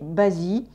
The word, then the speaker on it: Bazi: the deep and the en chinois en français prononcés basi qu'est ce que veut